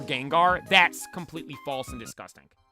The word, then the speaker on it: Gengar: Like, I'll give it to you when Wolfie says Genjar for Gengar.